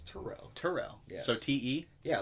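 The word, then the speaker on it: Terrell: give him jordan and we're gonna not tyrell it's turo turel yeah so t-e yeah like uh i thought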